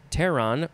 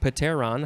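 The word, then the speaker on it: pteron: from brachy plus uh tehran or or pateron however you want to say that p-t-e-r-o-n and that means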